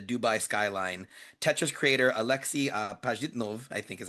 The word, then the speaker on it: Pajitnov: Tetris creator Alexei Pajitnov, I think is how you say it, is